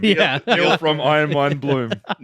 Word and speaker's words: Bloem: Um how do you pronounce your surname? Bloom.